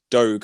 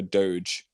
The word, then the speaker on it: doge: this actually and it was more people said dog over doge thank god it's like gif and jiff are